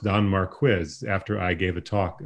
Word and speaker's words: Don Marquis: so uh don and by the way a don mark quiz this is my contribution a don marquis scholar informed me that it's pronounced denmark quiz after i gave a talk uh saying don marquis the entire talk but here's yeah i know